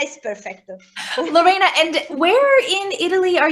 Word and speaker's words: Lorena: yes is a perfect way I mean your pronunciation is very good so oh Lorena is perfect Lorena and where in Italy are you living at